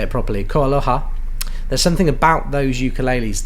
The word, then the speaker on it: KoAloha: There is something about KoAloha, and sorry, I should say it properly, KoAloha.